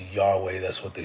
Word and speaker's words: Yahweh: substituted during reading Yahweh, the most accepted scholarly reconstruction of how Yahweh was originally pronounced.